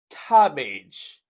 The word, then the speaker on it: cabbage: Number four, cabbage. Cabbage. This is a two-syllable word with the stress on the first syllable and you say cabbage.